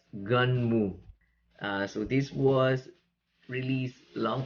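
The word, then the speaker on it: Gunnm: the manga is uh the spell as g-u-n-n-m but it is spelled i dispel it is read as gun mu so this was released long time ago 1990 to 1995.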